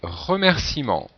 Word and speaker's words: remerciement: donc bien sûr là il ne faut pas oublier le E euh qui vient du verbe remercier et qui n'est pas prononcer 5è mot ascenseur alors